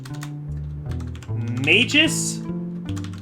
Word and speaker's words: Magus: are going to be Magus Andress so he's not just an occultist he's a he's a Magus I said Mages it's Magus Magus Andress right do you agree that's how it should be pronounced well anyway um you